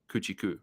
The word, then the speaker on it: Kuchar: And like you said, that course history is interesting, but I've always pronounced play Matt Kuchar at Kuchar courses, but that's only when Kuchar's playing Kuchar-Ku, like Gucci.